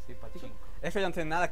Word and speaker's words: Pachinko: Así se pronuncia, ¿verdad? ¿Pachinko? Sí, Pachinko.